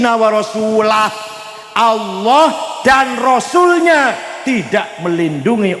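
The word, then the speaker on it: ورسوله: Ada orang baca Quran, innallaha bari'um minal musyrikin wa rasulih. Allah tidak melindungi orang musyrik dan Allah tidak melindungi rasulnya wa rasulih. Salah. Yang benar bacanya innallaha bari'um minal musyrikin wa rasulah.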